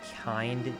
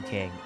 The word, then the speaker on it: Kind: It's Kind. Kind with a D, not a G. If it's bothering you, I can stop calling you King.